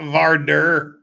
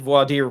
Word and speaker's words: voir dire: It's not Vardur. Well, see, I was going to say, that's how you can tell that Jeff's getting tired. He said voir dire properly.